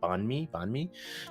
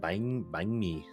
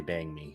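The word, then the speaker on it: bánh mì: and central of Vietnam, it's pronounced like as you would read it, banh mi, but I pronounce it as bang mi because I'm from the north side. That's an interesting pronunciation. Yeah, Bang. it's hard to teach it to people. It's hard to teach it to people and not make them accidentally say bang me.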